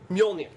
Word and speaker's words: Mjolnir: Mjolnir. It's basically a Scandinavian dude's first name. If you can pronounce Bjorn, you're good.